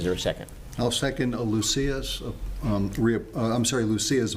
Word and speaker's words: Lucia: She pronounces it Lucia. Lucia, excuse me. I was the Italian way was a Luchia.